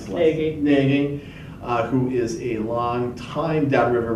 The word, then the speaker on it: Nagy: How do you pronounce this? Nagy, who is a long-time Downriver resident.